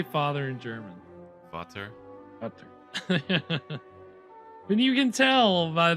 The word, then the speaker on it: Vater: Vater.